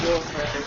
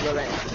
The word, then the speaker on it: Lauren: But we don't have really cool accents here, so it's pronounced Lauren instead of Loren. Nice. Like Sophia Loren.